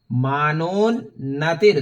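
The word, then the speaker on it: मानोन्नतिर्: तो नश्यन्ति दर्शनातस्य कवचे हृदि संस्थिते, हृदि संस्थिते मानो नतिर, मानोन्नतिर, दो नौ है यहां पर, एक आधा नौ है, एक पूरा नौ है।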